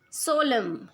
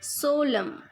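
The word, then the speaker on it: solemn: he loves very much Solem here last n is silent Solem so that means very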